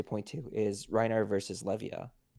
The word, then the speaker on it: Levia: tcg channel pronounce it levia as in leviathan uh but i mean i'm just gonna call her olivia i am a writer so sure well i'll just go with leviah because that's the official